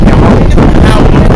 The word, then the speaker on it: Yahawah: God's name is Yahawah.